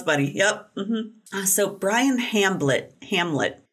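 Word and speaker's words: Hamblet: yep so Brian Hamlet Hamlet it's h-a-m-b-l-e-t so maybe it's a silent B another passenger was inside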